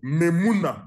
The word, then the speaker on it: Memuna: And this question arose in the case of Memuna Mudi. Memuna is spelled M-E-M-U-N-A.